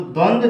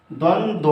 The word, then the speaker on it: द्वंद्व: तो द्वंद्व जो होता है मित्रों, द्वंद्व जैसा हम प्रोनाउंसिएट करते हैं उस तरह से द्वंद्व ये सही है, लेकिन इसका प्रोनाउंसिएशन हम गलत सीखते आए हैं। यह द्वंद्व द न हो करके शुद्ध रूप में यह द्वंद्व होता है।